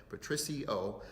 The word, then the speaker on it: Patricio: And we received a letter from Patricio, I want to make sure I say it right, Patricio, and the letter is 4 pages long, so